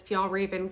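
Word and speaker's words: Fjällräven: so I did put the $15 into this FAL Raven kin bag is how you say it um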